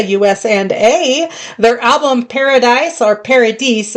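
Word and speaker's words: Paradice: Their album Paradise or Paradise, it's spelled P A R A D I C E.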